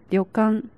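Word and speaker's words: 旅館: With these two, it read as “Ryokan”.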